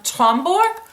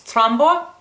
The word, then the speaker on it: Tromborg: got two products from twombork which is I'm saying it wrong it's trombo and it's a Danish